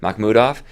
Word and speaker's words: Makhmudov: So it seems like this branding of the shark was built around, how do you say his last name? Makhmudov? You got it. Makhmudov.